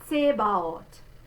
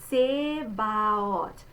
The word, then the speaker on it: Zebaoth: Zebaoth. All right, so we're going to say this letter Z like ts, which is why you say the TS.